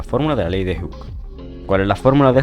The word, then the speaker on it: Hooke: Y por último, la ley de Hooke, se pronuncia así, Hooke.